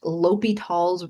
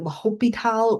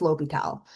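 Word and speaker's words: L'Hôpital: So that is pronounced Li Tall's rule.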